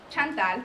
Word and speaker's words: Chantel: Chantel you know because you can't pronounce my name in Spanish right um You can